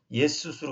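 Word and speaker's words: Ἰησοῦς: 근데 원래 헬라어로는 여기가 우리 보통 영어에서는 지저스, 근데 지저스는 원래 틀린 발음입니다. 예수수로 그래야 됩니다.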